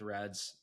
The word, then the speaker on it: RED-S: can come up with Reds. I keep bouncing my brain between Red S and Reds. Reds is so much That's easier to say, but how it's spelled, it looks like Red S, which is funny.